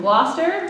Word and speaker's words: Gloucester: This first piece is called 3 Airs from Gloucester, which is not how that looks on the program, but English pronunciation, right?